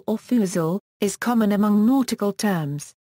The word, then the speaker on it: forecastle: Pronunciation the sync clip of the word f or fuzil is common among nautical terms but the position of apostrophes is not universally agreed.